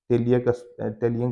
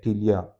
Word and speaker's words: Ptelea: टेलियन की जो स्पेलिंग है वो PTELEA टीलिया, इसको टीलिया बोलते हैं।